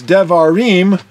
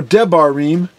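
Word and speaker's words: דברים: And the book of Deuteronomy, the Hebrew name is Devarim, or Debarim, depending on how you want to pronounce it, because it means words.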